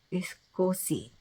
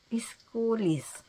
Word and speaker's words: Iskulis: Siya ay si Judith Iskosi. Hindi, Iskuli. Kaya naku, my bigkas. Ito siya. Oh, tingnan nyo na lang pa ang kanyang pangalan. Iskulis.